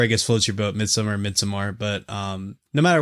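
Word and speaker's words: Midsommar: pronounce this title uh I believe it's Midsummer right so you don't pronounce the a well I think AR aser says midamar but it's supposed to be Midsummer I rhyme it as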